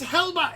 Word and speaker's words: Helba: I'm telling you, my name is Helba. It's not Heather or Helen or Hector or halitosis. It is Helba with a ba. All I know, I couldn't spell it, but I know it's got a ba in it.